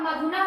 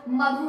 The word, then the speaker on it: मधु: और मधु मधु ऊपर का क्लियर ही है, मधु मधु है, ध्यान रखिए बच्चों, मधु नहीं है, दीर्घ उच्चारण आपको नहीं करना है।